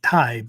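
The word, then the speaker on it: 耐: This kanji, we pronounce it Tai, but it comes from the verb taeru, Taeru, if you're writing out notes, right?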